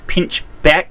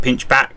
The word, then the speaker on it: Pinchbeck: yeah, there is a town in Lincolnshire in England called Pinchbeck. It's not Pinchback.